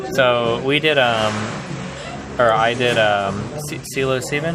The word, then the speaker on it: psilocybin: So we did, I did psilocybin. How do you pronounce it? Psilocybin.